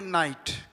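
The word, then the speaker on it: knight: तो देखिए के यहां पर साइलेंट इसे पढ़ेंगे नाइट। इसे पढ़ेंगे नो नाइफ नाइट नॉलेज। तो यहां पर के साइलेंट है क्योंकि के तुरंत बाद एन आया और एन के बाद वोवेल है।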